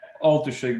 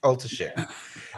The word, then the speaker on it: Oltuszyk: How do I pronounce that, Pawel? Oltuszyk, but don't worry about it. Oltuszyk.